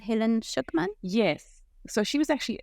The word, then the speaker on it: Schucman: So it's A Course in Miracles written by, am I pronouncing it right, Helen Schucman?